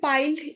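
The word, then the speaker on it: piled: তারপর আছে পাইল্ড, এটাও তাই, একটাই উচ্চারণ করতে হবে।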